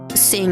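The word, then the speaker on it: Cing: I forgot the company name is like Sing, I think that's how you pronounce it. Spelled as C-I-N-G.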